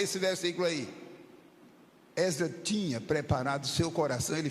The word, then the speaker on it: Esdras: Muita gente pronuncia, já que é reunião de obreiros, muita gente pronuncia Esdras. Se você puder, pronuncie com o E aberto, Esdras. Mas se disser Esdras, nem por isso nós vamos brigar.